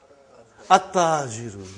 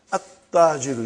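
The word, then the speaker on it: التاجر: At-Tajiru. You did not pronounce Al. You did not pronounce Lam. Okay, you did not pronounce, you skipped it. Okay. At-Tajiru.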